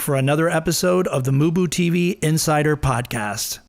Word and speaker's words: MuBu TV: all ending with the handle mooboo TV which is spelled m-u-b-u-t-v don't forget to catch